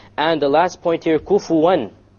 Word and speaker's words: كُفُوًا: And the last point here, kufuwan. How did we pronounce the noon there? Clear.